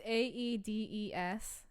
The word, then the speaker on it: Aedes: It looks like Adidas. Adidas. I'm wearing Adidas socks right now. Like, oh, they're covered in mosquitoes. Oh my, get them off. It's Aedes species, specifically the Aegypti and the albopictus.